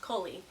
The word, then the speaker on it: Kali: or a cut they named the cub coolly and tells us pronounced Kohli after their village so they gave him the name of their village which i think is